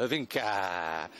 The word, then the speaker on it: Hyvinkää: We're at the MXGP of Finland, and we are at Hyvinkää. I just spoke to the security guard a moment ago. That's how he said you pronounce it, Hyvinkää.